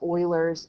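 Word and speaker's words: Euler: pattern is known as Oilers theorem I know you want to say you but it's actually pronounced Oiler like if you remember way back the Houston Oilers who became what the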